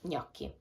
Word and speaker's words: gnocchi: is so please remember when you have the combination of g and n you pronounce it like so please pronounce it like i heard a lot of different and strange pronunciations of this word but it's gnocchi so we have for